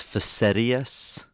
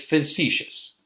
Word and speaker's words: facetious: I thought you were being, I think the word is facetious. That's how you would pronounce it. It's facetious. Facetious.